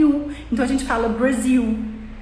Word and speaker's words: Brasil: da palavra em um Brasil a gente fala que se escreve b r a s i l mas a gente fala Brasil então quando a gente